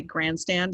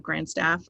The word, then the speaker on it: Grandstaff: Um, Sometimes people will say grandstand instead of grandstaff.